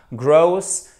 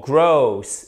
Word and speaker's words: gross: For gross et pas gross. Ok?